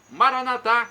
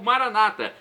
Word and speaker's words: Maranata: E agora, do aramaico, eu clamo, Maranatá, como dizemos nós católicos, ou Maranata, como dizem nossos irmãos separados, os evangélicos ou protestantes. Não importa a pronúncia, o significado é o mesmo.